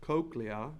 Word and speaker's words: cochlea: there the cochlea funny word but it's pronounced cochlea is made up of the bacilluar membrane wound